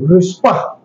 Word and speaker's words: रुस्पा: रुस्पा, हम्म, वो भी पूरा उच्चारण आ रहा है ना, रुस्पा।